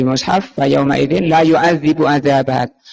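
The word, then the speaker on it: يُعَذِّبُ: Pertama bacanya yang kita lihat di mushaf, fa yauma idzin la yu'adzibu adzabat. Yu'adzibu ya, di kasrah zalnya.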